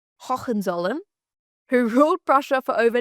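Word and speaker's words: Hohenzollern: Now the royal family of Prussia was the house of wait for the pronunciation Hawen Zolum who ruled Prussia for over 900 years nearly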